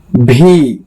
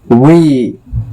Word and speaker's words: V: चलिए अपने भारतीय में पढ़ते हैं, ब्रिटिश प्रोनाउंसिएशन निकालते हैं। टी, यू, यू। बहुत लोग इसको पढ़ देता है भी, हम भी पढ़ा करते थे, लेकिन आज के